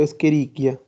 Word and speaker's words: Escherichia: incluye a nuestro querido escherichia escherichia recuerden que los nombres son latinos entonces en la ce h en latín se pronuncia como una cara como una q escherichia este es el